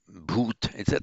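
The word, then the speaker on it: भूत: For example, in modern Hindi, um, bhoot, that's how it's pronounced in modern Hindi, with in the modern languages of northern India, the ones derived from Vedic and the Prakrits, they tend to lose the final ah.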